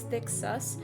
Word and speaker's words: Thcsus: and thick thick so I'm just going to pronounce it as thick sus it's spelled th-c-s-c-u-s I'm pretty sure I